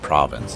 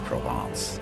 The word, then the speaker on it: Provence: But it's not pronounced province, it's Provence.